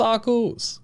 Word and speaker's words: Arceus: stuff in it, like saying Pidgeot should be pronounced Pidgeot. It's Arceus.